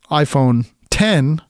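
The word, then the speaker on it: iPhone X: And now if you get the Apple iPhone 10, spelled with an X, for the 10th anniversary of the original iPhone, if you get that, the tax on that is like $100.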